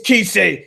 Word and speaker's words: Kise: The other members, somebody told me, "Hey, it's Kisei. You better start pronouncing his name right.